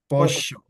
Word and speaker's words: pollo: If you talk to an Argentinian, they make the double L sound like a sh, right? So pollo, they would say pollo, ella, llevar, ellos, llorar, Okay.